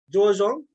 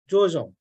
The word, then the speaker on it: George Jong: I have been a How do you say his name in Vietnamese? I'm sorry. George Jong. George Jong. So this is a okay. Hmong name in Vietnam. Hmong name, okay.